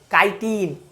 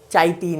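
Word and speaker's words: chitin: ठीक है, जैसे केमिस्ट्री को सी एच से लेकिन सी एच से केमिस्ट्री पढ़ते हैं, केमिस्ट्री नहीं, तो बस वही चीज़ है, काइटिन चाइटिन नहीं या चिटिन नहीं, वही चीज़ है।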